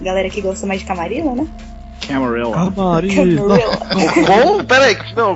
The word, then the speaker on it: Camarilla: aqui gosta mais de Camarilla, né? Camarilla. Bom, peraí, não, repete isso aí. Camarilla. Camarilla. Nossa. É a pronúncia do Bloodline. do Bloodlines. Mas é sacanagem, é Camarilla, porque eles que põem o sotaque.